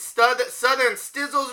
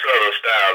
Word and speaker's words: Southern Styles: Now, not only are you an MC, but you're also the CEO of Southern, how you say it, Southern Stizzles record? No, it's actually Southern Styles.